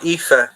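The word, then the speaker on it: Aoife: mean um not a lot of people can pronounce correctly kneels uh yeah uh IFA is another one Neo of IFA sercia uh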